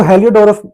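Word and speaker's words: Heliodorus: से नहीं आपको जूझना है स्पेलिंग क्या थी स्पेलिंग क्या नहीं थी अभी आप इसको हेलिओडोरस बोलिएगा तो हेलिओडोरस जो था वो एंडल किसका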